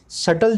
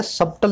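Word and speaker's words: subtle: देखिए, यहाँ भी टी जो है साइलेंट है, सटल जो वर्ड है, सबटल नहीं बोलते हैं इसको, सटल बोलते हैं।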